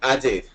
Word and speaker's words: Ade: Yes, hi, it's actually Ade, as they would pronounce it in Spanish.